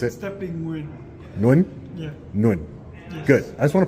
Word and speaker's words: Nguyen: Can you say it for me so I can know how to pronounce it? Stepping Win. Nguyen? Yeah. Nguyen.